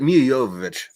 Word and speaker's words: Jovovich: no no no also is it mila jojo or is it miyajovovich because like in east europe uh the j is a soft y oh how you pronounce